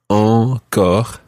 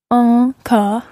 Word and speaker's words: encore: Yeah, the first one is en, so that your chin is sticking out, if you like. Encore. Encore.